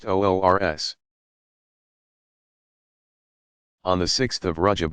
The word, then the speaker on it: urs: the Saints wedding day urs pronounced olr s on the 6th of